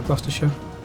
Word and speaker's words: Gloucestershire: We will need to take Bristol for Gloucestershire. The one part of the Choose Your Fighter achievement people can't pronounce. It's pronounced Gloucestershire.